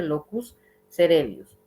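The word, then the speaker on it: locus coeruleus: con el locus celius se escribe locus cueli No pero se dice locus celius esta zona es muy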